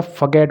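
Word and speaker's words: forget: तो बच्चों इसको फॉरगेट मैंने जानबूझ के बोला है, 90% बच्चे इसे फॉरगेट ही बोलते हैं। ये फॉरगेट नहीं होता, फगेट होता है।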